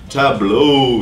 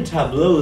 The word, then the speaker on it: tableau: here, which is titled Tableau. Yes, it does sound a little different. The word's spelled like table with an A and a U at the end.